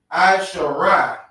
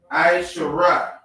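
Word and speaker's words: עשרה: How you pronounce 10 in the Hebrew is Aishara. Aishara.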